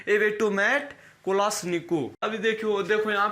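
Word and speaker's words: Kalashnikov: हटा लीजिए, अब एवेटोमेट कोलाश्निकोव। इसका पूरा नाम क्या? एवेटोमेट कोलाश्निकोव। क्लियर? इसको बहुत लोग बोलते हैं कोलाश्निकोवा। तो कोलाश्निकोवा जैसे कि अपना प्रोनाउंसिएशन होता है नेम का, तो उस तरीके से होता है।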